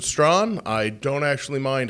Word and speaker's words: Strahan: Stron. Um, spelled just like Michael Strahan. I pronounce it Stron.